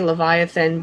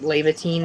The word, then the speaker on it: Leviathan: Ackles does and finally it's supposed to be Leviathan but they've mispronounced it and it's lava teen now or Leviathan anyways